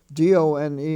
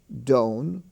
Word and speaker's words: done: pronounced none not known d-o-n-e is pronounced done not doan like he was done